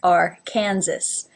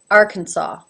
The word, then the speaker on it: Arkansas: However, it is not pronounced at all like Arkansas. It's pronounced Arkansas.